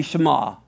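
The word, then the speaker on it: Shema: you were to take the ion is silent it's a silent letter right so is the AL so why can't we just write it this way it's say Shama everyone's going to hear it the same we just they're both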